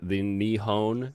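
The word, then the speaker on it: 日本: And funny joke, the Nihon is how you say Japan in Japanese.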